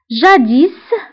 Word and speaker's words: jadis: jadis, jadis, فهنا اسم اخر الكلمة ننطقها نقول jadis كتعني سابقا.